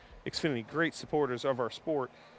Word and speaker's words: Xfinity: regulars and speaking of excuse me xinity series man that's twice today and I've gone like the whole year without saying the series name wrong hey folks it's right here Xfinity great supporters of our